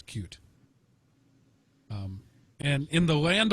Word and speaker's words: Qt: Speedy I am very happy and interestingly it's cute that's how they pronounce it yep cue it's cute um and in the land of lawsuits somebody